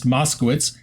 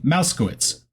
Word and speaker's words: Moskowitz: southern district of Florida asked Armstrong to correctly pronounce Moskowitz instead of saying mousekowitz Armstrong said that it